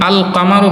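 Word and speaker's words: القمر: যেরকম আল কামারু বলতে লাম উচ্চারণ হয়।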